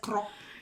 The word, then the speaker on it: Grok: Do you say it as krok? Is it grok?